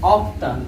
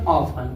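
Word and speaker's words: often: इसको अगर पढ़ना होता तो हम क्या पढ़ते हैं ऑफ्टन, क्या पढ़ते हैं ऑफ्टन, लेकिन टी ई एन में टी साइलेंट है इसलिए क्या पढ़ेंगे ऑफन, क्या पढ़ेंगे इसको ऑफन पढ़ेंगे।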